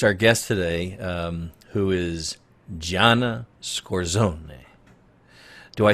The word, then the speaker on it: Scorsone: I want to introduce our guest today, who is Gianna Scorsone.